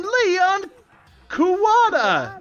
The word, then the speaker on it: Leon Kuwata: The blackened in this case, the one that killed Sayaka, was none other than Leon Kuwata, I imagine is how you pronounce that.